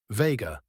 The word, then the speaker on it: vega: Say it slowly. Vega. Two syllables.